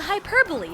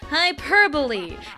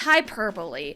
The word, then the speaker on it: hyperbole: That is an exaggeration, a hyperbole, if you will. And also, yes, it's to my knowledge, it's supposed to be pronounced hyperbole. It's not hyperbol, it's hyperbole.